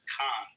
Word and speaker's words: Cannes: It's pronounced Cannes.